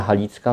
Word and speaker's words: Halicka: Oni literę G nie wymawiają, zamieniają na literę H, więc Armia Halicka, no to jest właśnie armia jakby galicyjska, tak?